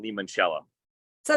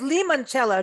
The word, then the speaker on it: limoncello: the idea of making limoncello so it's Lee manchella not limoncellos as many of us mispronounce including myself I'm not